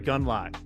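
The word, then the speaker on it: Gundlach: This is Jeffrey Gunlock. There it is. That's how you pronounce it.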